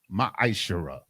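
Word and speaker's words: מעשר: You can find this in Numbers 18 and 21 and Malachi chapter 3, verses 8 through 10, means 10th in the Hebrew and is pronounced ma'ashara.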